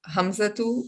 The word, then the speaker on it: Hamza: Masculine proper nouns ending in ta marbuta, for example, Hamzatu or Usamatu. Or we normally pronounce it Hamza and Osama. Would that be the right pronunciation? That is right, because you're saying Hamza, you're making it silent.